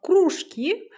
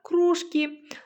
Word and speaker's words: кружки: Сабит нарисовал кружки, а Салтанат — кружки. Найди в тексте одинаковые слова разным ударением. Напиши эти слова в тетради. Замок, замок. Кружки, кружки. Дальше, 6-е упражнение.